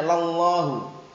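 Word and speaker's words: لَلّٰهُ: Waqu sallu alai wasam lallahu bacanya bukan lillahi ya lallahu ya yang biasanya dikenal lamul ibtida atau lamut taukid itu paham ya seakan-akan wallahi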